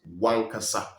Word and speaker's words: wankasa: O, that is O in Fante, disappears. It becomes Wankasa.